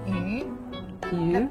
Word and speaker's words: 鱼: And in Chinese, fish, 鱼, yes, the pronunciation, it means surplus.